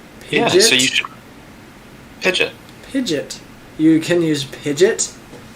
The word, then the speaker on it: Pidgeot: Yeah, we've had a lot of good debates about how to pronounce its name. Pidgeot? Yeah, so you should... Pidgeot.